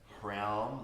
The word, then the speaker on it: Hraum: And the mantra Hraum, like it was before, H-R-O-U-M, Hraum.